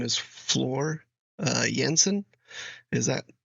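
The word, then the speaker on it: Floor Jansen: guess her name is Flor uh yansen is that I think that's how you say it Flor yansen is probably a better um pronunciation of her name um yeah so excited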